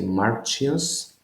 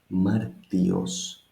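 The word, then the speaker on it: Μάρτιος: It doesn't sound Greek to say Marchios, but it sounds very Greek to say Martios, or Martios, just a T.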